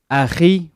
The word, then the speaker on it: akhi: You're supposed to say it Aki, but because that letter is not in English, it's pronounced as Aki in English.